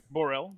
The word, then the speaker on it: Borel: You said Borel? Is that how you say it? Borel, Borel. Borel, yes, sir.